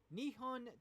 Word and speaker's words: Nihon: it because i thought it was very interesting nihon television and that is how you properly pronounce it announced a new tv drama based